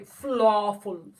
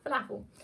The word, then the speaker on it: falafel: they can tell um it's because you say flawful but it's flatter flair that's that's actually the correct pronunciation philosophy falafel it's falafel um everyone being like moe